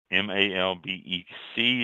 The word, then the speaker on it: Malbec: Malbec, M-A-L-B-E-C, is pronounced Malbec.